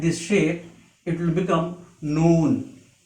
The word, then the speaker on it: noon: one dot inside this shape it will become noon its pronunciation in english is n double o and noon it is a light letter so it can